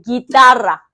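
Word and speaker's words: guitarra: 해 뒤에 우이가 붙이면은 원래 얘를 어떻게 읽어야 되냐면은요. 구이따라라라고 읽는게 맞아요. 구이따라. 하지만 우린 그렇게 읽지 않기로 했어요. 어떻게 읽기로 했냐면요. 같이 읽어 보시게. 기따라 기따라 기따라 기따라 잘하셨어요.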